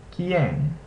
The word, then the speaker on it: quien: In the configuration ku ue or he ue, the U is not pronounced, and only the second vowel is pronounced.